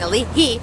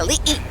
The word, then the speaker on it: Ali'i: guys, and it's on Ali'i. My friends who called me out for saying Ali'i, I'm stopping that, so it's Ali'i. There you go. Correct pronunciation is very crucial.